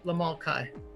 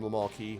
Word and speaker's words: Lamal Kai: make a call to Lamal Kai, which, by the way, is pronounced like Cobra Kai. Lamal Kai. Oh, is that calling him Lamal Key?